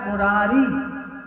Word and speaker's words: मुरारे: इसलिए शुद्ध मंत्र लिखा है उसे उच्चारण करें, श्री कृष्ण गोविंद हरे मुरारे। मुरारी नहीं बोलना, मुरारे।